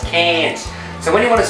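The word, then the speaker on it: Cairns: cleans STS up there there's a place called cans and that's how you say it all those North Americans KS KS no it's cans so when you want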